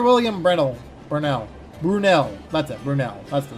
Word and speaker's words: Brunel: Brunel. That's the name. I mispronounced the name like 3 times.